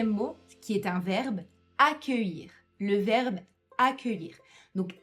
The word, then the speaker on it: accueillir: Donc attention à ne pas essayer de lire le mot puisque l'écriture de ce verbe est très différente de sa prononciation. Donc juste écoutez-moi et essayez de répéter.